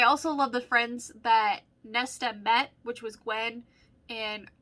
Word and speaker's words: Nesta: maas even though technically nasty i or nesta sorry i keep pronouncing that wrong and somebody did point that out i do apologize it's nesta she technically is a